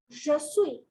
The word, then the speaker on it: je suis: Je suis. In this case, you do not pronounce the S.